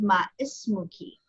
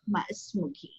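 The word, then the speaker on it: ما اسمكِ: Only once again, we're going to change the fatha to a kasra. Okay, so it's pronounced ma ismuki, ma ismuki.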